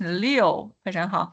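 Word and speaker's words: 六: Number six is Leo. Leo. So, it's not, it's Leo. Number nine would be the J is pronounced as G.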